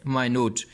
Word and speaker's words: minute: You will have to pronounce it as minute.